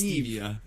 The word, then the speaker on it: Stevia: I and I swear it's Stevia yep kind of like Steve yeah it's a mnemonic